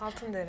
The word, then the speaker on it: Altındere: Altındere.